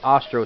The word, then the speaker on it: Ostro: Berto oh my God I was saying it wrong it's Ostro see I had a feeling I'm saying it wrong Ostro bro I always get